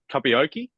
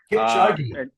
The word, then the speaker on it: Kipchoge: This is probably the most nervous I've been on a preview trying to pronounce this name. What's it, Mr. Kapioki? Kipchoge.